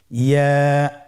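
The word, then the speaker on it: ياء: পরবর্তী হরফটির নাম কি ইয়া ইয়া হরফটি উচ্চারণের ক্ষেত্রে বারিক হবে এবং এক আলিফ টেনে পড়তে হবেইয়া আবার বলুন ইয়া ইয়ার মাখরাজ কোন জায়গা থেকে উচ্চারিত হয়?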